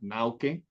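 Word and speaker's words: Naucke: otro wolfang que es dependiendo de la pronunciación alemana nauke así se así se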